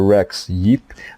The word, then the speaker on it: Rex Yeap: Rex Yeap. I hope that I pronounced it correctly, your name.